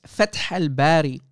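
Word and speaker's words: فتح الباري: And it's Fath al-Barri. You idiot. You can't even pronounce the name correctly. Fath al-Barri.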